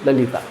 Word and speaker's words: Lalita: And how would you pronounce it? It is It is It is Lolita.